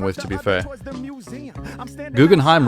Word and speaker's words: Guggenheim: Guggenheim rhymes with rhyme.